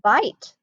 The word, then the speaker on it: bit: So here's the thing, that's a short I sound, bit.